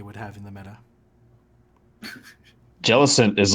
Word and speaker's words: Jellicent: I think it's Jellicent. Jellicent. Yeah. I could be wrong. Yeah. I'm pretty sure it's Okay. Jellicent. That's it. Okay, I gotta pronounce the T. Hard T.